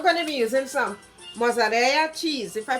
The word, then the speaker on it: mozzarella: Okay, I'm going to be using some mozzarella cheese, if I pronounce it properly. Mozzarella. I think the double L pronounced like a Y.